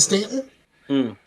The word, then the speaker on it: Staunton: It's a bunch of stuff like that in Virginia, like a lot of stuff it's like Stanton is spelled Staunton, but we pronounce it Stanton.